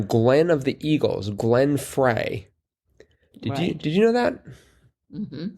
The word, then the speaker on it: Frey: I think it's pronounced Fry. It's F-R-E-Y, but it's pronounced Fry? Like the E is silent?